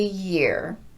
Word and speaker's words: year: Every year. Every year. There is no break between them. Instead, we're gliding right into that second word just like we glide into the word yes.